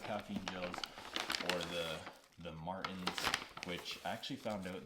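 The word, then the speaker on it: Maurten: gels or the the marttin which I actually found out they're pronounced as Morton Morton like the salt brand so that's generally what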